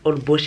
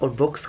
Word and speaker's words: Holbox: Bien prononcé Holbox et pas Holbox, comme les noms hispaniques.